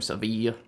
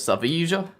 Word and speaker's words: Sevilla: So I think I'm gonna try the Seville strings though, or Seville. That's how Americans say that in city. Seville. But I lived in Spain for a while, and it is Sevilla.